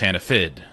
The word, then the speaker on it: Hannaford: And up there, Hannaford is pronounced Hannafid. F-I-D.